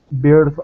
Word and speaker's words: birth: Was present at the birth of his son. Yes, birth. Try not to roll your R's so much.